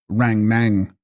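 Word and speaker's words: rang-snang: Text, Ran Snang, pronounced Rang Nang, one's own mental visions or thought forms.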